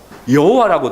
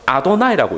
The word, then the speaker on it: 여호와: 이름이 나오게 된 것입니다 근데 유대인들은 이것을 야외라고 읽지 아니하고 여호와라고 읽지 않습니다 그들은이 야라는 문구에 오면 밑에 모음을 붙친 것을 따라서 아도나이고 읽습니다 근데 어 우리는 이것을